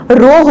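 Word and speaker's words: ρ: इसका प्रोनाउंसिएशन क्या होगा, रो होगा।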